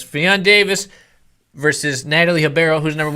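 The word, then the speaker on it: Davies: She told me it's pronounced Davis. Fionn Davis versus Natalie Hibero, who's number 1 vet.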